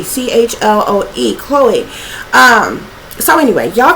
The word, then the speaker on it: Chloe: Lucifer's First Love was Chloe if I'm pronouncing that right I believe it's Chloe c h l o e Chloe um so anyway